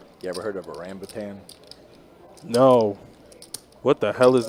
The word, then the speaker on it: rambutan: A rambutan. R-A-M-B-U-T-A-N. It even I mean, it's so close to orangutan. Spell it again.